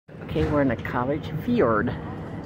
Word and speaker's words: fjord: we're in a college Fjord spelled f-j-o-r-d but you pronounce it f i o r d that gentleman just tell